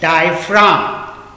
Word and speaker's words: diaphragm: Second में है डायफ्राम, DIAPHRAGM। Spelling थोड़ा सा ध्यान देना, जीप साइलेंट हो जाता है, जी लिखा जाता है लेकिन साइलेंट। डायफ्राम, क्या पढ़ोगे?